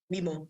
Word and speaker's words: Mimo: Is it, you pronounce it Mimo? Mimo, yes.